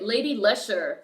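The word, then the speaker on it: Lady Leshurr: Lady Lesher. Lady Lesher is spelled Leshurr.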